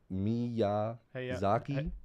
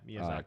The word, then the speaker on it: Miyazaki: How you pronounce his name? Because I'm going to butcher it. Hayao Miyazaki? Miyazaki. Yeah, right? Yeah, Miyazaki.